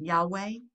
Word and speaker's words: Yahweh: name is which is there's many people say well there's really no way to pronounce it um christians will pronounce it yahweh i'm sure i don't know if you've heard that yahweh but um we will